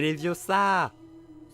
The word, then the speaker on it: Leviosa: C'est Leviosa.